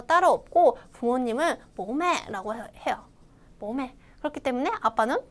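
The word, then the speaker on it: bố mẹ: 모매. 그렇기 때문에 아빠는 보, 엄마는 매 이렇게 외우면 쉽겠죠? 다시 한번 발음 읽어볼까요?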